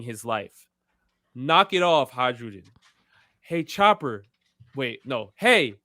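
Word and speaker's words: Hajrudin: Hadrudin. Or I also heard Hyrudin, however you want to pronounce it.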